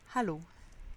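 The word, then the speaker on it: Hallo: j'ai moi même appris c'est à l'eau qui évidemment veut dire à l'eau c'est important de bien prononcer le h c'est comme si on mettait delà de la buée sur un verre autour des lunettes à l'eau ensuite pour dire je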